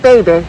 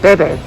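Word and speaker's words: bébé: Not baby, but Bebe.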